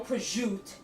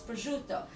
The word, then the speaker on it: prosciutto: Sicily, and we call it gravy, and we call it ricotta, not ricotta, and mozzarella, not mozzarella, and no prosciutto. It's prosciutto. And my mother literally would stop dead in her tracks and go like this, say it right.